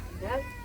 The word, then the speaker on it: Ende: Nah, jadi nanti kalau nama kampung kami di sini di Sasak Ende, bacanya Ende.